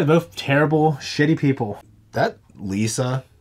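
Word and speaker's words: Lysa: terrible shitty people that Lisa is it Liza Lisa is that how you pronounce it yeah Liza with her she is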